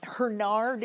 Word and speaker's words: Hurnard: book, Hannah Hernard, um Hernard is the way I've heard it pronounced. I don't I don't um I don't have an absolute lock on that pronunciation, but as far as I know, that's correct.